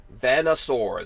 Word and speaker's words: Vanasaur: get these vanasaur t-shirts vanna sore that's how you say it it's like you know connoisseur but vanasar you know